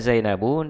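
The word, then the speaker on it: زينبُ: Aina zainabu? Di mana Zainab? Jadi ini bacanya zainabu. Jadi walaupun dia tidak memakai alif lam tidak boleh ditanwin.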